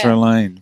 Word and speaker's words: Strelane: Yeah, I'm thinking it might rhyme with machine. That's why. There you go. Is that That's it? clever. Olivia the Strelane. Machine Yeah. Strelane.